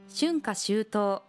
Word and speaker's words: 春夏秋冬: に行った春夏秋冬春夏秋冬の式のこと旬花シュートのリズムに気をつけて発音してくださいね日本には